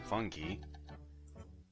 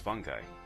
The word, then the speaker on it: fungi: I was pronouncing it yesterday in my stream, fungi, but apparently it's pronounced fungi.